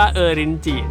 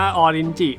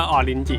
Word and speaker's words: ออรินจิ: มาก ๆ นะ ครับ เมื่อ ก่อน ผม เรียก ว่า เออ ริน จิ นะ แล้ว ก็ มี คน ทัก เข้า มา นะ ครับ ว่า ไอ้ มัน อ่าน ว่า ออรินจิ เว้ย โอเค ไป เปิด ดู เหอ เรียก ว่า ออรินจิ จริง ๆ ด้วย ชื่อ ภาษา ไทย คือ